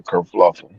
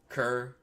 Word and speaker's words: kerfuffle: Yeah, you asked me about this word is a kerfluffle. Making something out of that. Sam said, "Spell it. Spell it." Kerfuffle. Kerfuffle.